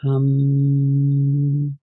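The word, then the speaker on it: ham: the h m is in Sanskrit it's pronounced hum and we're going to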